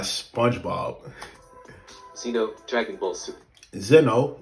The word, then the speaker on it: Zeno: Zeno is how you pronounce his name, but continue.